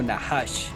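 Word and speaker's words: נחש: En el libro de Génesis, la palabra hebrea usada para serpiente, o sea, la que tienta Eva, eh se pronuncia como nahash.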